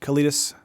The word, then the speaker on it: Kalitas: Let's see, Kalitas. Throw a Kalitas down.